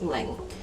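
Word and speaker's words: 零: Because, zeros in between is pronounced ling.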